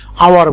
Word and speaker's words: hour: আরেকটা এক্সাম্পল দেখো, আওয়ার, HOUR, আমরা কিন্তু এটাকে হাওয়ার বলি না, আওয়ার বলি, কারণ এইচটা উজ্জ রয়েছে, আমরা ওটাকে উচ্চারণ করছি, যার জন্য এখানে আমরা অ্যান ব্যবহার করব।